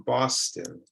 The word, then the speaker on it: Boston: It's also common in some city names. For example, I live in Boston. Boston. So when you make the I sound, you want to make your face look like the Joker.